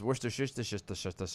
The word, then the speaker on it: Worcestershire: Hutchins over on Twitter's uh how do you pronounce worcestershire sauce it's a good question yeah how do